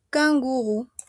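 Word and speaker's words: kangourou: Porque tenemos la o má la u. La o má la u es la u delesol. U. U. Kanguru.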